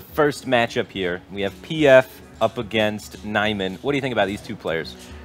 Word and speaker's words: PF: So we have Naiman versus PF.